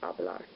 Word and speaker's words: hablar: things to note that in Spanish the H is silent so if you're saying L bar which is spelled H a boa are forcing hablar also when there's a